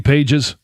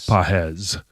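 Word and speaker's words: Pages: Andy Paes. Um I know that's not how you say his name, but Pahz.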